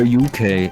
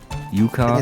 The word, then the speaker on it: Yuka: Wait, is it more Yuka or UK? Yuka. Yuka? It's Yuka. Yuka. As in ukulele.